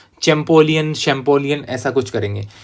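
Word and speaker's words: Champollion: लेकिन फ्रांस में अलग तरीके से शब्दों का उच्चारण होता है, तो इसका हिंदी में नाम भी आपको ऐसे लिखा हुआ मिलेगा, जा फ्रांसवा शैम्पोलियन, ऐसे इनका नाम में लिखा हुआ मिलता है।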